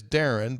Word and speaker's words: Darian: And he said, it is Darren, but it's spelled the way that it is because there was another Darren DeVries near them, and his mom didn't want to get their mail confused.